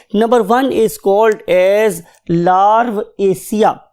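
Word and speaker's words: Larvacea: इसको डिवाइड कर दिया, इस नाम को डिवाइड कर दिया दो पार्ट्स पे, लार्वेसिया, लार्वेसिया बोलेंगे आप इसे, लार्वेसिया। एशिया सब में आना है, ACEA सब में आना है, इसलिए मैंने लार्व को और एशिया को सेपरेट कर दिया।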